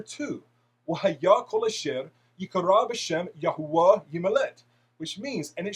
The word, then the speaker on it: Yahweh: of the creator's name, Yod Heh Waw Heh, pronounced as Yahweh.